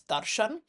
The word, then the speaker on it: Darśana: people would actually just cut off the A at the back and just say it as daran. Now that is a very it's influenced by Hindi. Um in Sanskrit you would actually technically still pronounce the a in the back but this is highly